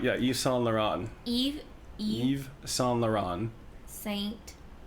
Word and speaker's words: Yves Saint Laurent: I was like, Yves Saint Laurent. I mean, look, why is there a V there if you don't pronounce the fucking V?